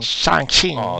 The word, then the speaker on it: Shang-Chi: I'm looking forward to watching Shang-Chi or Shang. Or I keep on saying it wrong. Shang-Chi.